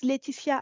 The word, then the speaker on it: Lætitia: so my name is letia AO uh this is OB firstly a French name I'm pretty sure my parents gave me that name on purpose so that no one that is not French can say it correctly but it's okay uh